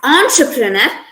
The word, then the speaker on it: entrepreneur: from the french language the e and sound in these two words uh they were they are pronounced as on their terms as on instead of n they pronounced as entrepreneur uh entrepreneur means a